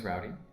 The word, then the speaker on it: Roldy: My name is Roldy, spelled Roldy, but it's always pronounced like rowdy, like let's get a little bit rowdy, so I've always heard it that way, which I like better.